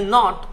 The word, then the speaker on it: knot: यहाँ पर के जो साउंड है, क साउंड जो है ना प्यारे बच्चों वो साइलेंट है। जब भी आपको ऐसा वर्ड मिले जिसमें KN आया हो शुरू में, तो के साइलेंट हो जाएगा, क साउंड साइलेंट हो जाएगा, न से आप वर्ड की शुरुआत करेंगे।